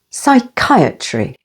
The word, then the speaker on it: psychiatry: the second syllable pneumonia p is silent before S as in the words Psalm Psychiatry with the stress on the second syllable Psychiatry psychic with the stress